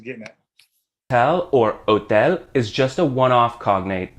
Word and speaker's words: hotel: same word exactly but said in a Spanish way don't forget that H is silent but hotel but this is like